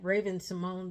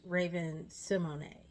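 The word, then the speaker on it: Raven-Symoné: I learned I was pronouncing it wrong. I thought she was Raymond Simone the whole time. Raven Simone the whole time, but now I found out she was Raven Simony, which makes sense because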